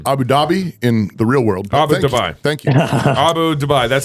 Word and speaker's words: Abu Dhabi: Dhabi in real world Abu duai thank you Abu duai that's how they say it over we Americanized it and said Abu Dhabi no hey uh in